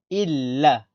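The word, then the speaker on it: إلّا: Et comme il y a un tashdid, on répète le lam. Illa.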